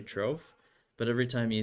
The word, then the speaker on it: Troff: "Oh, it's actually Troph," but every time you say it, your accent hides it enough Yeah, that that's I good.